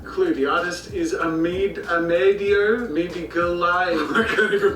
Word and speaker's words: Modigliani: Clue, the artist is Amedio Modigliani. I can't even pronounce the artist's name.